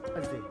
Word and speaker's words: Ajay: The Mugisu and me couldn't pronounce the full name is Ajay. Ajay, A-J-A-Y, Ajay.